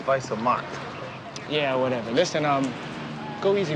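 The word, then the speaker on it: Weiße Macht: It said Wise Mark. It means white power. It's pronounced Weiße Mark.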